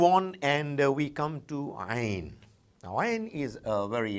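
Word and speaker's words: ع: It comes from deep inside the throat, a very special sound, Ain, Ain. We people belonging to the subcontinent quite often struggle to bring it out from the right place.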